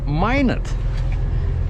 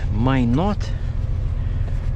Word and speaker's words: Minot: second am i not i always said minot minot north dakota turns out that's not how locals say it might not man all right so